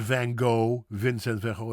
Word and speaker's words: Van Gogh: Vincent van Gogh. The people in the south tend to have a soft G and they say Van Gogh.